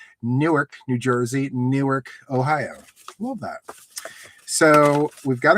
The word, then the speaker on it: Newark: Newark, Ohio is pronounced the same as Newark, New Jersey.